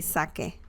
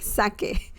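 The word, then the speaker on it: saque: that they will say sake they will say sake it's like the drink Sake sake it sounds pry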